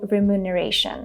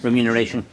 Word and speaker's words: remuneration: For example, in return, they offered him a small remuneration. Summary of out-of-pocket expenses, time required, remuneration, funeral arrangements, so forth.